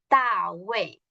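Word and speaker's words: 大卫: aparece el pinyin, que se pronuncia más o menos como Da Wei, y Da significa grande, y Wei como defensa, como gran defensa.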